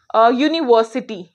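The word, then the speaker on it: university: ऐसे ही मैं बात करूं यूनिवर्सिटी, यूनिवर्सिटी, यूनिवर्सिटी, या मैं बात करूं यूनिक, यूनिक, तो यहाँ पे यू की बात नहीं हो रही है।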